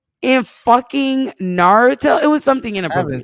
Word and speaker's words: Naruto: Yeah, I was gonna say that you shouldn't have done Naruto am I saying it right?